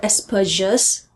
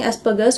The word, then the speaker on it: Asperger's: just said, you're using Asperger's with a soft G, Asperger's, which is completely cool. I'm using it with a hard G because I'm pronouncing it the way the German name would originally be pronounced, but I think both are cool.